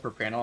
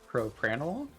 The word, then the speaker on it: propranolol: what we're potentially getting at um it's called per panel it's a beta blocker it's also used for um i'll see you spring sorry i'll see you that way pronounce that again for me propranolol yeah i've been pronouncing that wrong for a